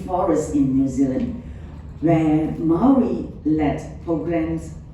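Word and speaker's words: Māori: And a compelling case is the restoration of native forest in New Zealand where Maui le programs Maui or Mari when I was in Victoria University of Wellington they pronounced as Mari Mariled programs have shown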